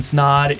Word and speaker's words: Snod: My name is Ryan Snod. It Rhymes with Odd, and you're listening and watching the Rhymes with Odd podcast.